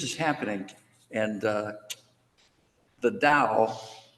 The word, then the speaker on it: Dao: happening and uh the da spell Tao it's they're moving toward pronouncing spelling it Dao because that's closer to the way they say it so it it may